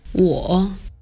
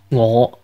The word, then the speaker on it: 我: In Mandarin, it's pronounced 我 with the 3rd tone, or falling rising tone, while in Cantonese it's pronounced 我 with the 5th tone, or low rising tone.